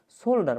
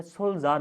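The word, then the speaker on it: soldier: তো সেমভাবে আমি জাস্ট আপনাকে দেখাই, সোল্ডার মানে দেখেন তো, সোল্ডার এটা সোলজার উচ্চারণ হয়, ঠিক আছে?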